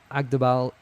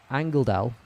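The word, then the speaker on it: Angeldahl: I think Agdabal, sorry, how do you say her name? Angeldal, there we go, needs to become more central.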